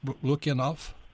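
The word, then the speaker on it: Lukianoff: today is Greg lukanov is that pronounced lucky enough it's a Luciano lucky enough thank you very much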